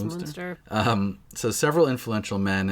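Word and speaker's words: Münster: and that's like like i believe it's pronounced monster right i think so i think it's monster um so several influential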